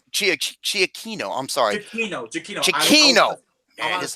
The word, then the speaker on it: Giacchino: He is also Giacchino. It's pronounced Giacchino.